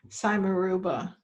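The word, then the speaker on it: simarouba: do you spell it s i m a r o u b a b is in boy cymeruba now why okay say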